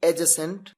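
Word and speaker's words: adjacent: यह जान लीजिए की एज और एडजेसेंट इसमें दी साइलेंट होता है इसलिए एडजस्टमेंट नहीं बल्कि अजसेंट कहते हैं देखिए सेंटेंस आपके सामने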